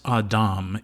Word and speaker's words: Adam: It's pronounced Adam in Hebrew, which he will also learn.